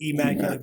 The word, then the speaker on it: Emmaculate: It's like the word immaculate, but E, because So DJ Emmaculate, but that shit gets butchered so much.